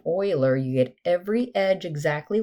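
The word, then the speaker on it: Euler: So remember, Oiler, it's how you say his name, Oiler.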